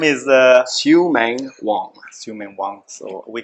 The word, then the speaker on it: Sui Meing: Xiumeng. Capital M-E-I-N-G. It's S-U-I. There's no sh.